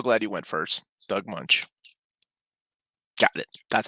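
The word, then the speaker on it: Moench: stuff I'm so glad you went first Doug munch got it that's how you say it I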